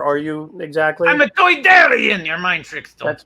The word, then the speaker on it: Toydarian: I'm a Toydarian. Your mind tricks don't That's work. Thank you. Sorry. How do you pronounce it again? A Doidarian? Toydarian.